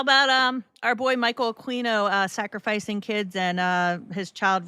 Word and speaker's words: Aquino: And what can you tell us about Michael Aquino, Quacks? In a nutshell, I guess, is what I'm asking. I believe it's pronounced Aquino, but Aquino, so I was saying it right?